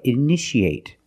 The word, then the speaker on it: initiate: You see T-I-A. How do we pronounce it? That's right. Shh. So how do we pronounce this word? That's right. Initiate. In the present, initiate.